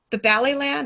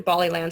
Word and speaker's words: Ballyland: There are several, the Ballyland, it's actually Bollyland, sorry, I say it wrong, apps for learning on iOS.